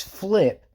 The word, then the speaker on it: Phlip: It is flip, like a backflip, but it's spelled with a PH instead of an F, because I thought that